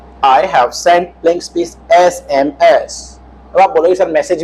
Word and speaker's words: SMS: SMS। उच्चारण देखिए, पहला क्या है? स्वर है।